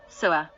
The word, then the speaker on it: SWA: The mantra SWA is pronounced as follows: Suawahahaha, Sua.